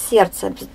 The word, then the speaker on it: сердце: Сердце. Непроизносимое «д» – проверочное слово «сердечный».